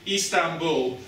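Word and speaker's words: İstanbul: So Istanbul, you'll sometimes see a long I with a dot on the top. It's kind of an E sound. Crossing between an I and an E, Istanbul.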